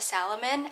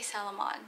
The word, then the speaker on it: Salomon: with the cottage core salomons okay I never knew that Salomon was pronounced a Salomon at least that's what I think that's what I Googled I would always say Salamon I'm so sorry y'all